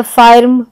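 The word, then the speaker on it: firm: फर्स्ट, तो यहाँ पे हमने फाइर्स्ट या फार्म या फिर्म ऐसे हम नहीं करते प्रोनाउंसिएशन, बल्कि हम कहते हैं फर्म।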